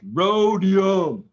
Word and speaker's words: rhodium: what I mean wrong it's rhodium like a rodeo you just leave out the rhodium 1955 prices David